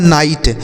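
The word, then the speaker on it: night: Next word है एन आई जी एच टी। इसे पढ़ा जाता है नाइट।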